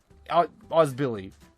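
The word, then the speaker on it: Özbiliz: Yeah, that's how you say it, but Ozbili. Billy. It's just Billy, okay?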